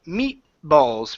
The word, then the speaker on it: meatballs: Okay, you can just say meatballs. Meatballs. Meatballs. There you go. So, we pronounce half of the T and then move on to the B one more time.